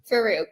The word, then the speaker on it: Faruque: and your last name again my dear Farooq I know it's a tricky one to pronounce I will I and see I have